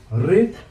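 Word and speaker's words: read: আমি এনেকে কৰিম, রেড রেড স্পেলিংটো same আছে, যে রিড রেড রেড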